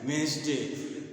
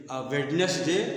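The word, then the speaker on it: Wednesday: इसको क्या बोले तो हमलोग सब गलत बोलते हैं इसको बोलते वेडे बोलते इसको बोलते है वेनसडे वेडनेसडे नहीं बोलते तो आप ध्यान दीजिए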